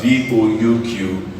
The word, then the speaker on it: bouquet: This is pronounced as buffet. Alright, we have many more examples. We have BOUQUET.